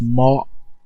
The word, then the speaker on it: Marc: I'm from the South, Atlanta, Georgia, so Mark is pronounced Mark. You know what I'm saying? Mark. Yeah, just it's like M-A-R-C, but it's pronounced like mob. That's the best way I can put it. Just without the B, it's like mob. That's it. That's how we say it down here.